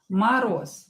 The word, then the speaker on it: мороз: Мороз. Мороз. The same here, Z will be pronounced as S. Мороз, because it is voiced and it is located at the end of the word.